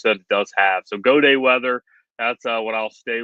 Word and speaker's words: Gaudet: I'm Gaudet Weather, and it's Gaudet, again, French, spelled like Gaudet, but it is Gaudet Weather.